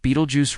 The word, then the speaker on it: Betelgeuse: Beetlejuice pronounced Beetlejuice ranks among the largest naked eye visible stars.